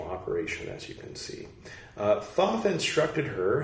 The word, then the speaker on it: Thoth: a dialogue with thought I think they mean Thoth though it's spelled thought of all the Egyptian god of writing Thoth now with the H indicating that the previous spelling was a typo all right uh yes where